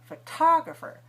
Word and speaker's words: photographer: But photographer, and photography. When the stress is on the second syllable, then we put aspiration or a puff of air.